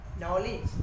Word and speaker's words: knowledge: जैसे कि KNOW, नो, no means चलना, यहाँ पर के साइलेंट है। KNOWLEDGE, नॉलेज, नॉलेज मीन्स ज्ञान, तो यहाँ पे के साइलेंट है।